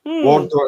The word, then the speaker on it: Wardour: about was what I'm going to get his name wrong. The Wardour Castle. Right, yes. Right, Wardour Castle. Wardour, is that right?